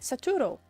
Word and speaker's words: Saturo: like that I said saturo saturo I said saturo that's how how your name is spelled my guy it's how it's spelled we can sit here